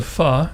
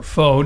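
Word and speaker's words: Pho: of the restaurant is what the fa or Foe depending on how you pronounce it in Redford Michigan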